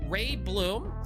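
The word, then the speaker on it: Reiblom: Um we've got Ray Bloom, which I believe is how you spell it. It's or how you say it. It's R E I B L O M.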